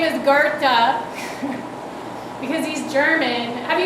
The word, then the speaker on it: Goethe: still poo poo the man was Gerta or go as I thought he was called until my German friend told me how to pronounce his name his name is Gerta because he's German have you guys heard of